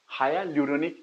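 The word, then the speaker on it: hyaluronic: Acid, high एल्यूरोनिक acid, HYA, हाया ल्यूरोनिक acid, हाया ल्यूरोनिक acid, हाया ल्यूरोनिक एसिड, ये पढ़ना सही से, प्रोनाउंसिएशन सही करना है, हाया ल्यूरोनिक एसिड।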